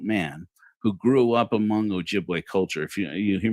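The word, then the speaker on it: Ojibwe: as an adult man who grew up among Ojiway culture.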